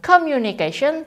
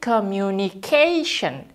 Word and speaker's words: communication: Jadi bukan communication, tapi communication. Sion-nya kan ada di akhir sini ya. Lalu kita tekankan di sini, begitu.